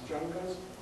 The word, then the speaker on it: Jungers: whom I mentioned before who sometimes pronounces his name Jers and sometimes jungers um and he is